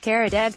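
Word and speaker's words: Karadağ: The address had my last name in it, Karadag, but all lowercase, and without the Turkish G, which was silent.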